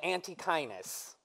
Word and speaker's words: Antechinus: There is a small marsupial mouse called the Antechinus. Rhymes with your highness.